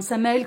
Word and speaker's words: Samael: Sans difficulté, hein, Samael comme ça se prononce, hein, enfin voilà, hein, R-A-I-N pour Rain et Samael, S-A-M-A-E-L, et vous allez voir les paroles,